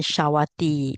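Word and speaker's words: Sāvatthī: So the discourse took place at the Jetawana Monastery in Shawati. It's a long I here.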